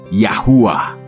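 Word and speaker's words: יהוה: Ay Wow Ay y se pronuncia como yahua muy simple muy poderoso el nombre del Salvador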